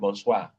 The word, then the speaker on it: bonsoir: Then number 4, OI and OY is pronounced as wa. That's why you told me bonsoir earlier. Can you recall that? Bonsoir. Yes. And you said bonsoir. Bonsoir is Okay. Bonsoir. The OI Mm. then is what you pronounce as the wa.